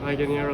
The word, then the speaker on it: Laganiere: Laganiere.